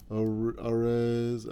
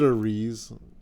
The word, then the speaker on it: Arez: Arez. I almost said Ariz.